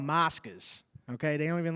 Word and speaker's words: moscas: Moscas. Moscas. Moscas. Check it out, bro. Can you spell it to me?